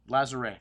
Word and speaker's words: Lazaret: Lazaret, Châteauneuf du Pape, Lazaret, I don't think you pronounce T. Actually, the only words you pronounce at the end of a word in France are in the word careful, C, R, F, and L.